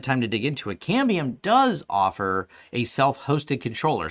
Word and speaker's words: Cambium: but one of the things about aruba ruckus cadmium uh can cam beam i'm always saying their name wrong cambium uh they may they all make good products